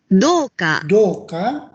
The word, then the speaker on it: 銅貨: Kemudian kalau ini doka ya, doka bukan koka ternyata.